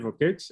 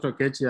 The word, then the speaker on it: Okech: My name is Okech, not Okechi as it's pronounced, but that's okay.